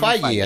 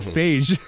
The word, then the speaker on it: Feige: It's Kevin Feige. I think it's Feige. Yeah. Feige. So I said Phage. Well, you know what? Whenever he goes into whenever he's in Italy or France, he's Kevin Feige.